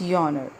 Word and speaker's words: genre: Narayana is GE n R E and the pronunciation is Yahner so G honor means the type of Pope